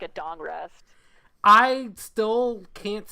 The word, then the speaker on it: Dahngrest: Dahngrest. That's literally it. Dahngrest. Yeah. Dahngrest. Yeah, It's spelled stupid because it's from a Japanese RPG.